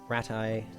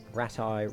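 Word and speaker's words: Rattay: head back to retire ratti ratti rat RTI there's a few different ways of pronouncing It characters seem to vary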